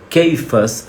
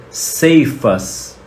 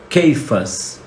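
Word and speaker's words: Cefas: gente lê na Bíblia ceifas né muita gente ler na Bíblia e disse ceifas que é Pedro a pronúncia não é ceifas a pronúncia em hebraico é keifas e que é quase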